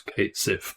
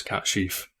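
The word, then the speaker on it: Cait Sith: It's Kate Sif, but the actual pronunciation is Cat Sheaf. I believe it's Gaelic, right?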